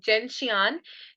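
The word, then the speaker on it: gentian: 12थ medicine is जेंशियन people call it जेंटियाना also but I pronounce it जेंशियन जेंशियन इज for those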